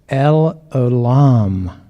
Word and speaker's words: El Olam: And so today is El Olam. That's the right pronunciation.